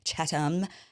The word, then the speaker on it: Chatham: Imagine if you did like a single Google search for the pronunciation. He makes fun of yesterday I was saying Chatham House rules. Apparently it's Chatham.